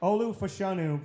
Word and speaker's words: Olu Fashanu: we both look this up how do you pronounce that name so that's Olu yeah fanu okay Olu fashanu out of P out of penate yeah I